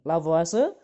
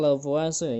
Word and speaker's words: Lavoisier: dan Hai hukum lavoisier biasanya dibacanya lavase ya hukum lavoisier ini hukum lavase meskipun tulisannya follow vierta biasanya orang bacanya itulah puasa gitu ya kayak orang Italia itu oke eh ini